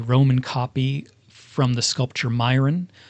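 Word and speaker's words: Myron: copy from the sculpture myON I've heard it pronounced Miron as well which is also from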